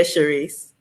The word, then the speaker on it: Charise: Did I pronounce that right? It's Cachia, Charise.